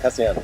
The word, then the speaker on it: Castellano: Yes, Castellano. Oh, yes. Said it right.